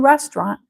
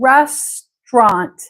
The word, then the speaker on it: restaurant: try saying restant restant it could be three syllables Resturant restorant but I would say it as two syllables restant I know that's crazy I know but you're here to to hear how I speak right rest this is why I have trouble spelling it Au restant restaurant that's how it's spelled restaurant and I can understand it if you say it as three but I would rather say restant that's how I